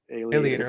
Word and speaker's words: Aleator: Alligator, okay, because it kind of rhymes with aviator. That's kind of why I like that one. Yeah, Okay. Yeah, creator, right. Same formation. Yeah, good point. So Alligator Press, which is a